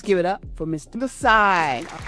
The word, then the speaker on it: NiSi: Changed it to Nisai. Um and because my business is Nisai's eyes, it kind of helps people understand how to say it, too. Yeah, cuz eyes and Nisai kind of rhyme a little bit.